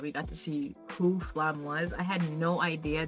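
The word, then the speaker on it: Flamme: flam bro and then to see flam or flam or flame didn't actually hear the pronunciation like super accurately but I know it's flam um do I know or I'm assuming it's flam um so to see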